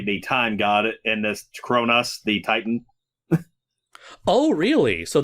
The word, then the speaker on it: Cronus: sick of people confusing cronus the titan with chronos the god of time it doesn't help the fact that they're both pronounced the same way no yeah well technically